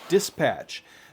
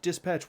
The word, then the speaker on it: Dsptch: pack this is from dispatch that is spelled d s p t c h dispatch without the vowels so no vowels it's a consonant only company um and this is